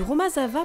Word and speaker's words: Romazava: il prépare romazav le Romazava prononcé romazav est un mais traditionnel